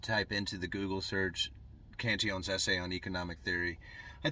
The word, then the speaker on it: Cantillon: of centered around the cantion effect or the cantillian effect is the way i like to a lot of people like to say it i like to say cantion because that's the way he pronounced it anyway